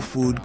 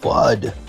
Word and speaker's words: FUD: introduce you to No Food Koala. No Food. We had somebody make this the other day for our No FUD Koala. Thrilled to introduce you to No Food Koala. It's pronounced FUD, Mr. Tyson.